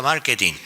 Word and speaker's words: marketing: O sea, y entonces pues, había que explicarles, pues no, se pronuncia marketing, y mire, consiste en esto y lo demás allá y no sé qué.